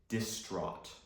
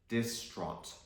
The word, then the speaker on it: distraught: list is distraught again the GH sound here is silent we say distraught distraught now when you're distraught